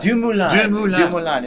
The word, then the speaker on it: DeMoulin: Chris, can I do it for DeMoulin. DeMoulin.